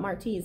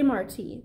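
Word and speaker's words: Martí: Dad was funny about Marty's name, always making sure people knew how to pronounce it correctly. It's Marty, like Jose Marty, the Cuban poet, not Marty, like Marty McFly from Back to the Future.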